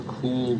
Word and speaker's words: Kuhl: off to face and I had a cool picture absolutely is it pronounced cool okay here's schwind Del demos is